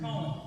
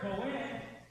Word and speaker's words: Cohen: Which syllable in the word cantor gets stressed? The first or the second? The first. What about the word Cohen? What is that? The first.